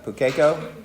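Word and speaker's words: pūkeko: Pukeko.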